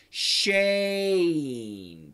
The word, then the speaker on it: Shane: Just like my name, Shane. That's the perfect pronunciation.